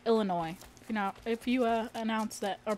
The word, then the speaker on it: Illinois: You just can't pronounce the S because it's like Illinois.